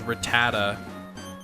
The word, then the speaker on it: Rattata: access to the DLC ratatata people say I always say ratata that's how I've always said it ratata but the I guess the real way is Rattata how long do you